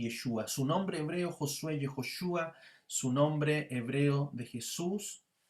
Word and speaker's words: Yehoshua: Su nombre hebreo Josué, Yehoshua, su nombre hebreo de Jesús, Yeshua.